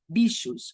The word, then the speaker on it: bichos: the artist Lygia Clark's iconic hinged sculptures titled Bichos, or Critters, from the 60s. The Portuguese word bichos, spelled with CH, like in Clark's titles of her sculptures, means animals or critters.